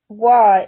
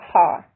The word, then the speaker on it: は: Wa in de wa arimasen should also be pronounced wa, not ha.